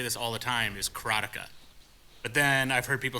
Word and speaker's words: Karateka: I pronounce it, and I've always pronounced it, and you're going to hear me say this all the time, is Karateka. But then I've heard people say Karateka, Karateka.